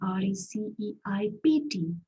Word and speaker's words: receipt: though because receipt is r e c e i p t there is a p there and p is silent it's pronounced as receipt so you have green